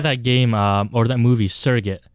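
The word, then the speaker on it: Surrogates: basically like that game or that movie, Surrogate. Oh, was it Surrogate? Sugar Gates. That's how I always pronounced it.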